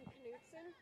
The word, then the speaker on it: Knutson: On Knutson, the K is pronounced.